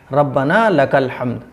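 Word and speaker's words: ربنا لك الحمد: रब्बना लकल हम्द, रब्बना लकल हम्द, ये है सही प्रोनाउंस।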